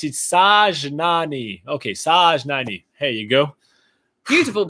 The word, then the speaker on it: Sajnani: All right, so said, haha, you can pronounce it Sajnani. Okay, Sajnani.